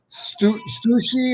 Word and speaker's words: Stussy: Stussy or Stussy.